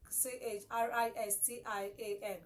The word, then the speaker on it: Christian: a n chrisan oh c h r i s t i a n Christian yeah Christian you don't say because there is CH there then it must be pronounced as Trace how no so it doesn't matter